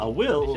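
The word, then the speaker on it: Wyll: Spelled with a Y, but Will. it's just Will. Will.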